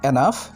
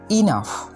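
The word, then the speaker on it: enough: এটার সঠিক উচ্চারণ এনাফ হবে না, এটা সঠিক উচ্চারণ হবে ইনাফ। ঠিক আছে, তো এরপর থেকে আর কখনো এটাকে এনাফ বলবেন না, এটাকে বলবেন ইনাফ।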